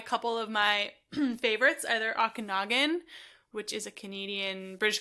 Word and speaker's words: Okanagan: Usually buy a couple of my favorites, either Okanagan, which is a Canadian, British Columbia.